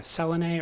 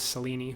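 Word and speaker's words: Selene: devote of the the Greek uh moon goddess uh Selony or or I think or I think Alan Moore says Seleni. So we'll go with that pronunciation.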